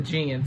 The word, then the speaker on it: Djinn: gonna check out this new trailer says the gin yes i had to pronounce you know i had to see how to pronounce it because it's spelled dj i n n so it's called it's pronounced the gen so it's an exclusive official trailer so is